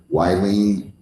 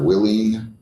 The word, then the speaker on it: Willene: So if I forgot to ask you your name or mispronounced your name by calling you wine instead of Willene and Nolita is Nolita.